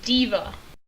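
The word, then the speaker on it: D.Va: actual name is d dot VA and you pronounce it diva Divac I did think of like diva but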